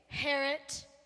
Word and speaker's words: Herot: to miss Harriet King Herot rhymes with parrot I'm sorry it's pronounced Herot the eye is silent okay so King Herot got